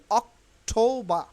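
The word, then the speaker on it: October: নিবেন তাইলে খেয়াল করেন অক্টোবা অক্টোবা অক্টোবা টি এর উচ্চারণ হচ্ছে ঠ এর মতো আর ও এর ও অক্টোবা এখানে কিন্তু আর উইল বি সাইলেন্ট হেয়ার অক্টোবারে কিন্তু আর উচ্চারণ হবে না তাইলে অক্টোবা অক্টোবা অক্টোবা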